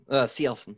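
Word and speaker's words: Cielcin: The Sealson or Chilson? Yeah, Sealson, yeah. Sealson. Okay.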